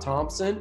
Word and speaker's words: Thompson: But I mean, like you said, if you try to like talk about Thompson, it's TH, but you just pronounce the T, the H is silent.